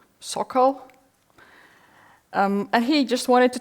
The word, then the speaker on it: Sokal: How do you pronounce his last name? Sokal.